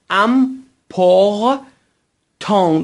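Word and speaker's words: important: که گفتیم تلفظ میشه و تی که در پایان باشه تلفظ نمیشه دوستان در زبان فرانسه غالباً ت یا اس اگر حرف آخر کلمه باشن غالباً تلفظ نمیشن پس ت و اسی که آخر کلمه باشد غالبا تلفظ نمیشن مثل کلمه مهم یا همون امپ ت امپت مهم همین طور ای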